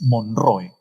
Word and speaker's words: Monroe: Eh, antes que Ramón Castilla gobierne el Perú, Estados Unidos tuvo un presidente eh, llamado James Monroe, ¿no? James Monroe. Monroe se escribe así como Marilyn Monroe, ¿no?